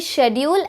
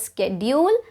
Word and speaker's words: schedule: So some of the words that have two correct pronunciations are, it is also privacy, it is also privacy. It can be data, it can also be data. It can be schedule as well as schedule, and it can also